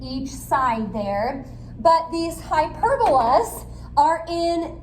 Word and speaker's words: hyperbola: Kind of looks like hyperbola, but hyperbola is how we pronounce that.